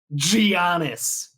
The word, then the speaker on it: Giannis: part about it is you just do the hard G to start it, just to piss off all the Milwaukee Bucks fans. Giannis.